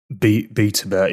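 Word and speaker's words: BtoBet: Because NeoGames, if I am correct, they have Pito Bet, is it? How do you pronounce it? BetaBet, yeah.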